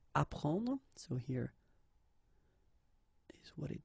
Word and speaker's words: apprendre: The first one, AP, so app, you will get apprendre, apprendre, okay, you don't pronounce the double P, apprendre, so here is what it means.